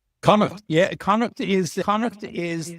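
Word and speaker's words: Connacht: Kana right is that the right pronunciation Kuk yeah Kuk is Kuk is the most western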